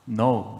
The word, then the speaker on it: know: 요한일서에서는 안다라고 하는 표현, know, knowledge. 그 사실은 그래서 K-N-O-W, know, 그렇죠? know. 그 원래는 gnos에서 왔대요. gnos. 그러니까 K가 묵음이고, 그렇죠?